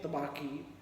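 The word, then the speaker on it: Tabaqui: How can you pronounce Tabaki? Tabaki is the name.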